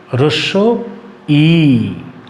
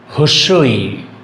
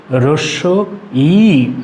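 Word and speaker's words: হ্রস্ব ই: সেটি হচ্ছে রস্য ই রস্য ই অনেকে এই বর্ণটিকে আমরা বলে থাকি হস্য ই কথাটি ভুল এক এক অঞ্চলে এটি এ এক ধরনের বলে থাকে আমরা এটিকে শুদ্ধ ভাষাতে রস ই বলবো এই কথাটি মতো আরেকটি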